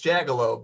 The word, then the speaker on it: Jagielo: Is it Jagielo? It's Jagielo, but that's really close to the Polish pronunciation.